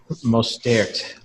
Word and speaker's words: Mostert: So fire up all those Mostert. How do you say his last name, Peter? It's the French pronunciation, Mostert.